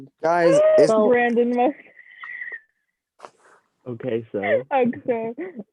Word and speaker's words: Okso: just feel like maybe we should listen to Zach's pronunciation. It's Okso.